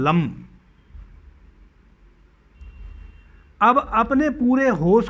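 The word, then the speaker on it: लं: इस लाम ध्वनि को ला म मा, ला के ऊपर अंक की बिंदी, लाम, इस प्रकार से इस लम ध्वनि का उच्चारण कीजिए।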